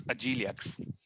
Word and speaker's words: Agilux: Hi guys, it's Agilux, Agile UX. Yeah.